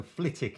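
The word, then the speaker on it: Flitwick: on Nadine Doris so flitic apparently it's pronounced without the w I actually had one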